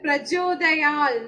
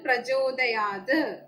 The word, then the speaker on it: പ്രചോദയാത്: അതുപോലെ പ്രചോദയാൽ, നമ്മൾ മലയാളത്തില് പ്രചോദയാൽ എന്ന് പറയും. അപ്പൊ അത് അങ്ങനെ പാടില്ല, സംസ്കൃതത്തിൽ പ്രചോദയാത് എന്ന് തന്നെ പറയണം. അപ്പൊ ഇതാണ് സംസ്കൃത ഉച്ചാരണത്തിനെ കുറിച്ച് ഉള്ള നിയമങ്ങളും അതിന്റെ ഉദാഹരണങ്ങളും.